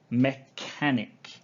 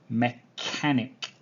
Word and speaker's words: mechanic: the first one is mechanic mechanic okay now i know it has ch in the middle but the word is not sh okay it's not sure it is a like